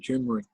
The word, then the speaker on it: turmeric: I do turmeric daily as well, Alex. Good to know. I was pronouncing it turmeric, not turmeric.